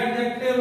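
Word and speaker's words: adjective: कुछ लोगों को कंफ्यूजन ये होता है, देखिए ये भी बात समझ लिया, आप ये लिखा है आपने लिखा एडजेक्टिव, लिखा एडजेक्टिव है लेकिन बोला जाएगा इसे एडजेक्टिव यानी डी आपका साइलेंट रहता है।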